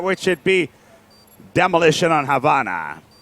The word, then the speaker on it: Havana: And then we're going to be moving on towards the next map, which should be Demolition on Havana. Habana, even, as you should properly pronounce it.